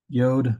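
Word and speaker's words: י: Yod is a Y sound.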